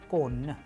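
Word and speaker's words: конь: Yes, it is kon, kon, which means horse.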